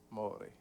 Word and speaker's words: Moure: ¿Cómo pronuncia? ¿Maure o Moure? Moure.